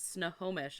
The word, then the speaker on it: Snohomish: to the haunted Saloon and have pie it's Snohomish and we're sorry for saying your name wrong yeah all of the town my pronouns